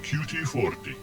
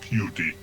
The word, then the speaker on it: QT-40: I am QT-40, not pronounced cutie.